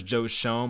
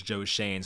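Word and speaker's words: Joe Schoen: have joe shane i always thought it was joe shone my dumb ass but i actually just watched the video i saw it was joe shane so i wanted to nail that pronunciation so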